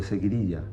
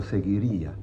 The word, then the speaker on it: seguidilla: it is called the seguidilla. Seguidilla or seguirilla, several pronunciations.